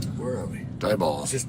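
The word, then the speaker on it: Diboll: called where are we dball just dball yeah that kids if you're not from Texas that's a real place d i b o l l but pronounced d i e b a l l d yes oh there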